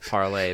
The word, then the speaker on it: Parler: Well, I think it's called Parlay, but it's spelled Parler.